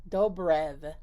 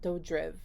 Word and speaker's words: Dobrev: has nina dojo dobrev dobrev not dodriv that's how i've been saying it this whole time but it has a b on here unless it's spelled wrong